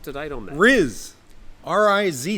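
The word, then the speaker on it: rizz: bring us up to date on that RZ r i z z RZ oh it's spilled with two z z yes yes Zed it's pronounced in the dictionary yeah r i z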